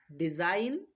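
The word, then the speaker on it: design: রিজাইন rain net ফরেন প্রত্যেকটা উদাহরণের এর মধ্যেই দেখো আমরা জি এর পরে এন বর্ণরা জি এর পরে এন বর্ণটা খুঁজে পাচ্ছি। এইজন্য জি কে সাইলেন্ট রাখতে হবে। অর্থাৎ জি এর উচ্চারণ করা চলবে না।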